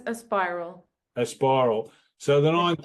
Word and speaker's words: Aspiral: As Aspiral, what do you how do you pronounce it? I pronounce it as Aspiral.